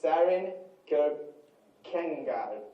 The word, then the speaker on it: Kierkegaard: And his name is Søren Kierkegaard.